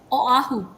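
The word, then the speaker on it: Oʻahu: because every vowel is pronounced separately, right?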